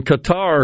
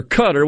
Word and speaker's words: Qatar: In Qatar or Qatar, whichever pronunciation you're comfortable with.